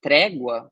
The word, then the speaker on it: trégua: A sílaba tônica é essa daqui, portanto, é a penúltima. Isso faz com que trégua seja uma palavra paroxítona.